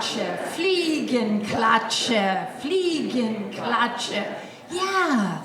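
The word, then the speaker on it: Fliegenklatsche: swatter why don't you say it with me fle and clut fle and clut fle and CL it yeah that's how to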